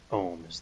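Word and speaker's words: Omm: So there's Zath and there's Ohm.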